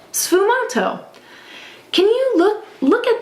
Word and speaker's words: sfumato: was known ASU M say that with me it kind of rhymes with t Fu M sfumato can you look look